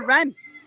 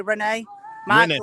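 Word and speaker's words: Rennes: move on now to ren uh we all pronounce him differently i'll see you might say renee might say renee and i would like to say ren well either way the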